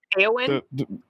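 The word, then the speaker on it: Éowyn: her name i'm not gonna butcher this just pronounce her name for me eowin yes thank you aoen erwin there erwin is number two on this list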